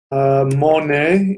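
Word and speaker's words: mōna: comes from the word mone in Old English. I'm going to spell it out here, how it sounds, not how it's actually spelled. Mone, like the painter Monet. That's what the Old English is.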